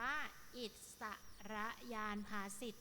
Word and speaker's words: อิศรญาณภาษิต: ของ เรื่อง ลูก อิศรญาณภาษิต เรา อ่าน ว่า อิศรญาณภาษิต นะ คะ เรียก อีก ชื่อ หนึ่ง